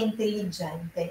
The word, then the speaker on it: intelligente: Caso di due consonanti identiche seguidas, in italiano a pronúncia è só um pouquinho mais pesadinha ali naquela consoante. Então aqui é inteligente, inteligente.